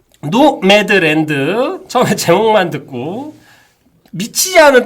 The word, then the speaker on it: 노매드: 책인데 한국에 출간될 때 제목이 노마드였어요. 그러니까 한국에서도 그러니까 노마드라는 걸로 이렇게 했었는데 실제로 외국에서는 보니까 노매드라고 부르고 이게 영화 나오고 하면서 제대로 된 발음으로 좀 교정이 된 거고 이게 노매드가 유목민이라는 뜻이더라고요.